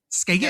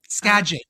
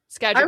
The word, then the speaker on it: Skagit: Skaggot. How is she pronouncing a scadget? Scadget. Oh, like gadget. Okay. Yeah, Scadget Valley.